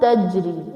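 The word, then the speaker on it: تجري: It's not tajri. It's not simple tajri. Simply we say jannat tajri. Not tajri. It's taj. J. Because jim is the qalqala letter.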